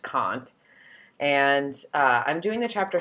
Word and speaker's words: Kant: that is also kant it looks like can't but it's pronounced kant and i'm doing the